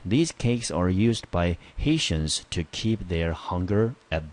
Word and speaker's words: Haitians: by Haitians，好，这 Haitians 就是 Haiti 啊，加上 ia 啊，那个加上 ans，我们念成 Haitians， tia 我们就念成 shion 的音。